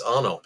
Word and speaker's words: Arnopp: it's Arnopp, yes, but the most important Arnopp. thing to remember there is that the first P is silent, so definitely do never, ever pronounce that.